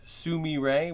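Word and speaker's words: Sumire: cine lenses so yes they are pronounced Sumi ray which is a Japanese apparently for violet like the flower not the not the color but yeah a lot of people are like oh the zoom ireland's its Natsume ray so if you hear anybody saying that now you know the proper pronunciation but this is what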